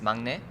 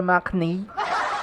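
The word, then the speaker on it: 막내: Hindi siya mo, parang siyang nasa pagitan ng M at saka ng B.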